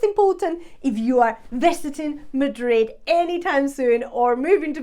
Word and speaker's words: Madrid: soy de Madrid so you skip that D at the end you don't pronounce the d soy de Madrid with the emphasis on